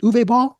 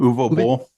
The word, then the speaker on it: Uwe Boll: How do you pronounce it? Uwe Ball? When you interviewed him? Uwe Boll.